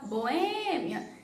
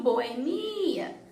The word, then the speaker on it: boêmia: Algumas palavras pronunciam boemia e outras boêmia. Mas essa palavra aqui, vocês estão vendo que tem um acento circunflexo no E? Então, logo, a sílaba tônica tem que ser onde está o acento. Então, eu tenho que falar boêmia e não boemia.